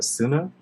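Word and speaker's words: 砂: to me yeah and it's pronounced uh sunnah is that the vocabulary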